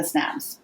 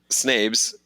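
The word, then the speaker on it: Snabes: who's pretty impressive, Samantha Snabs. Is it Snabs? Snabs, Now we keep going back and forth. Snabs. Well, it rhymes with crabs.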